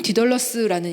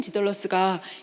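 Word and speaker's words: Dedalus: 주인공의 이름이 스티븐 디덜러스라는 이름인데요. 이 디덜러스는 다이달로스를 영어식으로 이렇게 발음을 한 거죠.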